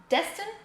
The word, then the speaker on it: Destin: So okay, but your real name is Destin? Yes. Yes. Is that how you pronounce it? Yes, Destin.